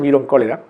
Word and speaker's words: Vibrio cholerae: por una bacteria Vibrio, se escribe cholerae, ¿no? Vibrio cholerae, se pronuncia vibrio cólera.